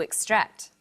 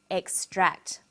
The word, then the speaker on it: extract: on the second syllable extract but e ex t r a c is also a noun when it's a noun it's pronounced extract the emphasis is now on the first syllable and this pattern of